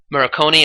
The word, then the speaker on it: Morricone: music that plays that Ennio, how do you pronounce his last name? I believe it's Morricone.